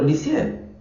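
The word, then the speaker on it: Lisieux: Santa Teresita de lié que se escribe lice pero licer francesa jovencita padecía de muchos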